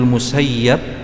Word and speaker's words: Musayyib: ulamanya orang Madinah yaitu Said Ibnu musayyib atau sebagian menamakannya membacanya dengan Said Ibnu musayyab ini merupakan cucu dari